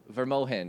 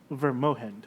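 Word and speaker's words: Vrmogend: town's name is uh verm moind it's V r m o g e n d but the G is pronounced with an H okay ver moind okay and um what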